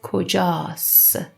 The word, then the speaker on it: کجاست: کجاست we pronounce as کجاست. We don't pronounce ت.